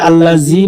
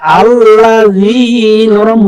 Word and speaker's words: الذين: আমরা শিখে নিই আল্লাযী আমরা এখানে ভুল করি আল্লাযী বলি না আল্লাযী বললে হবে না আল্লাযী নরম হবে একদম আল্লাযীনা আল্লাযীনা হুম হুম